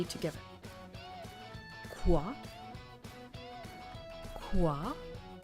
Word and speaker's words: quoi: Quoi? It's the wa sound. Wa. Quoi de neuf?